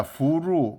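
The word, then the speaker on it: 福禄: 호로가 복이 중국말로 후예요. 후. 로는 루. fu루입니다. fu루.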